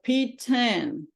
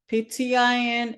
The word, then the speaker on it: PTIN: you to get your P10 P10 ptin everybody call it different sometimes I said P10 sometimes I said ptin okay so it doesn't matter how you say it is the same thing